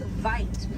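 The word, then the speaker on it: wyd: Original word for white rhino was vite. Vite means wide in apricots, but over time it was misheard and mispronounced and it turned into the white.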